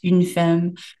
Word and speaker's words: Une Femme: grew up in Canada, grew up speaking French, you know it's Une Femme, just so we can pronounce it correctly. And Une Femme Wine specializes in women-made champagne and sparkling wine.